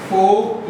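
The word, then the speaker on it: fork: फोक line method फोक किसे कहते हैं? चउमीन खाइए काटास उसको बोलते हैं फोक लाइन मेथड। ठीक है? R साइलेंट है फोक लाइन मेथड।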